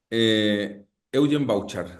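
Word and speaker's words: Evgen Bavčar: Que él después se enamora, Eugen Bauchar, se escribe Evgen Bavkar.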